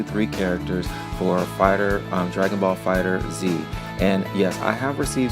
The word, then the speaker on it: Dragon Ball FighterZ: characters for a fighter Dragon Ball Fighter Z and yes I have received some comments sharing that it's actually pronounced Dragon Ball fighters but I'm choosing to